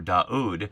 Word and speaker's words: David: The V in the in the David in the English is simply representing what's a silent consonant there. or it would be pronounced in Hebrew daud and here it's Jedodiah.